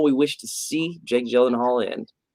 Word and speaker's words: Gyllenhaal: we're talking about jake gyllenhaal or is uh i learned from a talk show appearance that he had uh gillen howard because he's swedish uh so apparently everybody says his name wrong and he's just like